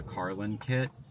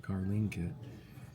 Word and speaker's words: CarlinKit: Um, when I read into it for the Carlin kit, is Carlin, right? Yeah, Carlin kit. Oh, Carlin kit. I've been calling it Carlen kit.